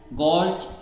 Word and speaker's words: gorge: Among these, gorge, V-shaped valley and waterfall are prominent. सबसे पहला आप पढ़ेंगे gorge. एक्चुअली में आर साइलेंट रहता है इसका.